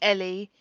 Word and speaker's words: Elle: But pronounced differently, so it's fine. So it's always Ellie. It's never L. It's mostly Ellie.